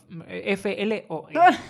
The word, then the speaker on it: Floe: No sé si se pronuncia Floe o F-L-O-E. No es Flow, porque Flow sería con W, entonces, bueno, Floe, ¿vale?